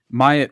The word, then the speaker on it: Myatt: Is that how you pronounce it? Do you know? You remember? Myatt, yeah.